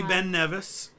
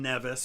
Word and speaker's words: Ben Nevis: the first time yeah see we did see ben nevis which that was one of those things i had been pronouncing wrong i had always pronounced it ben nevis but it's been nevis and we did see it's the tallest uh